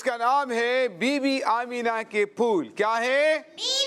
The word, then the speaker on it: آمینہ: بی بی آمینہ کے پھول۔ دیکھیں، آمنہ نہیں ہے، آمینہ ہے۔ کیا ہے؟ آمینہ۔ ہاں، جب بھی کسی کے سامنے یہ نام لیں، کسی کا نام ہو، تو اس کے تلفظ کا دھیان رکھنا چاہیے۔ آمنہ یعنی میم کے اوپر جزم نہیں ہے، میم ساکن نہیں ہے، بلکہ میم کے نیچے زیر ہے۔ آمینہ کیا ہے؟